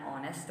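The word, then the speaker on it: honest: यदि कोई words H से प्रारंभ हो किंतु उसका उच्चारण कंसोनेंट की तरह नहीं होकर भावेल की तरह हो तो उसके पहले एन का प्रयोग किया जाता है, जैसे an hour, N honourable man, एन ऑनेस्ट मैन, इस तरह से।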